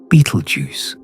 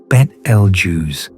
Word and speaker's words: Betelgeuse: The pronunciation for what it is worth has never been settled either. Beetlejuice, Bet Lu, and several other variations all have their defenders, and the arguments about which is correct have outlasted most of